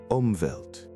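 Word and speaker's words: Umwelt: Omvelt.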